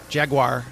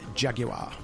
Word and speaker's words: Jaguar: time I'd seen a British commercial for Jaguar, as Americans pronounce it, and it was emphasized Jaguar.